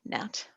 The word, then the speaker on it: gnat: Number 1 is nat juice, spelt with a G, nat.